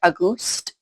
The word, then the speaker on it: Auguste: it, but they said it's not August, but it's spelled like August with an E. So I'm going to assume by the way that they were having her pronounce it, it was like Auguste, maybe?